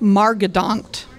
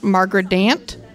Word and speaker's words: Margedant: Margedant. Margedant. Okay. It's been pronounced Margredant, Margaret, Marjorie, not margarine, but I would like to say Margedant.